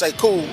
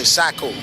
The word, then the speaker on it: Sekou: My name's Sekou, and people couldn't pronounce it growing up, so they would say Sakou.